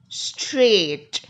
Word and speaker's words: straight: what we call it as a silent GH straight in this word you cannot actually hear the